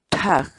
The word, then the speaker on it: thak: série de vídeos onde nós ensinamos você a pronunciar determinadas palavras em Quechua. Portanto, a nossa palavra do dia para hoje é Tag, tag, tag.